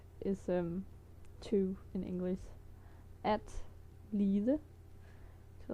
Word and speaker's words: lide: At lide, to like, to suffer. But if it's the version that means to like, you would, at least in my part of the country, pronounce it like I wrote in the blue bubble li.